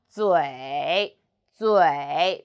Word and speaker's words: 嘴: 我们一起读嘴嘴滋微滋微嘴 and third tongue 嘴嘴 very good.